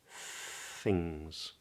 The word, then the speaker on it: things: just sings things and that s on the end is a Z I know it's a weird one but it is things things the whole phrases